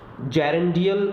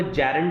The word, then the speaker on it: gerund: जेरेंडियल noun जो है वो जेरेंड से बना है। जेरेंड, बहुत सारे जो लर्नर्स हैं वो इसे जीरंड पढ़ते हैं, जबकि इसका जो सही प्रोनाउंसिएशन है वो जेरेंड है, जेरेंड।